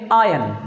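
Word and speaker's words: iron: बात है आयरन है तो ट्रिक ये है की आर साइलेंट है इसको पढ़ेंगे आयन आयन कभी भी आयरन नहीं कहेंगे जैसे फीस वगैरा जमा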